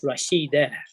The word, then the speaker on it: Rashidatun: But for Rashidatun, when you rest on the last letter, it's Rashida.